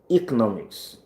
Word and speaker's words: economics: So some people will say E, some people will say A. So both pronunciations are free variations of that word.